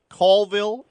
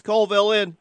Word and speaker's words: Colville: As you can see, Callville is a great place to go this fall for a cast and blast vacation.